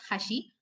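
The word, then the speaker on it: 橋: does matter for example the word bridge ha is pronounced as hashi and the chopsticks is also pronounced as hashi may the sound the pronunciation may be same but there will be slight intonation while speaking as i told earlier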